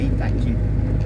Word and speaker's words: Itatim: Não é Itatim, não, Itaubim, viu, gente? Lá é Itaubim, aqui é Itatim. É quase idêntico, né? A gente às vezes até pronuncia errado, se não presta atenção, né?